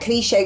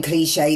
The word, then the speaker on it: Kléshay: So that but cliche is how you pronounced it with the accent.